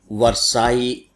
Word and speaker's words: Versailles: double L ई एस अब आप इसको सीधे-सीधे उच्चारित करेंगे तो वरसाई नहीं होता है क्योंकि डबल एल साइलेंट है गायब है तो आपको कंफ्यूजन ना